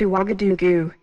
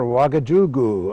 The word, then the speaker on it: Ouagadougou: I hope I can pronounce this right. It's Ouagadougou. Right you are, Ouagadougou.